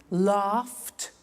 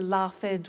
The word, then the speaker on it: laughed: pronounce the T danced laughed washed and walked ok now the temptation is to say watch it dan said the laffed wash it but we eliminate the e and we add T ok watched danced good